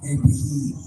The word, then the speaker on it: Ibrahim: But the proper pronunciation is Ibrahim.